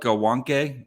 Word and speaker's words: Gawanke: So it's spelled Gawanke, but it's Gawanke because he's German.